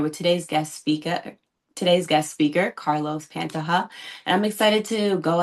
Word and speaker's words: Pantoja: instead of pronouncing it with a J, just pronounce it as if it was an H. How about that? Okay. Say it one more time. Pantoja. Pantoja.